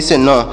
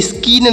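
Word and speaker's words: scene: आपको नहीं पढ़ना है यहां पर सी साइलेंट है मतलब इस सी का उच्चारण यहां पर नहीं किया जाएगा सी का उच्चारण नहीं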